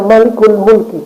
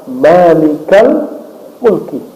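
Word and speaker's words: مالكَ الملك: frasa barangkali dua kata maka tidak dibaca Malikul Mulki bacanya Ya malikal Mulki coba Antum doa Rabbana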